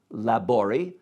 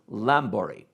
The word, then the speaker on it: Labori: Zola and his defense attorney, Fernand Labori, whose name they pronounce as Lambori.